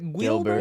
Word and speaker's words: Guilbert: do you say your last name is it Gilbert it's Gilbert it's not g i mean you